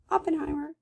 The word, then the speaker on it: Oppenheim: So anyway, that's Murray Oppenheimer. I'm sorry, Oppenheim. I keep saying her name wrong because I always say Oppenheimer because of the atomic bomb.